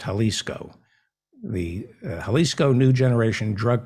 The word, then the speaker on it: Jalisco: jalisco new generation drug cartel i think it's pronounced jalisco the jalisco new generation drug cartel which mexico